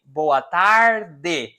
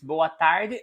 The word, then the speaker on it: boa tarde: repeat for me bow i am from the south of brazil so i say boa tarde people from rio de janeiro sao paulo they would say this last syllable here the people from the south boat but the people from rio de janeiro even north of brazil they would say and you would use this bowatari until sunset from lunch